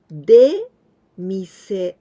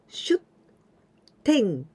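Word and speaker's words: 出店: And here with this one, we've got two ways to pronounce. The first one, demasu, de mise, demise. Literary meaning of demise is outside and shop. The shop that is in outside. So demise, it means street booth or street store, street stand. The other way to pronounce this kanji is shutten, shutten, and this is going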